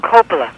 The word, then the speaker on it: Coppola: Coppola.